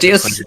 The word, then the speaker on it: Cethius: Setius, the H is silent.